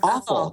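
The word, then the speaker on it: offal: information so okay so ofal is that how you say it like awful yeah and it's not awful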